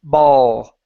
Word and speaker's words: ball: instead of bows okay remember the L is not a lip movement it is a tongue movement so instead of instead of saying bow and moving your lips like that it's so your tongue is GNA touch right behind your teeth there's a small Ridge that's there okay and yet you want it to touch there ball balls balls balls M